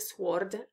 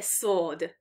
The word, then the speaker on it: sword: me it remember pronunciation we don't read the w which is there and spelling so not it's not a sword it's a sword uh and i got